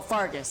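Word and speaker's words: Faerghus: Oh, Fargus. Okay. That's how you pronounce it.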